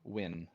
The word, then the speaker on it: Uin: Marshall Win, and it's spelled U-I-N. Win. Like Uin.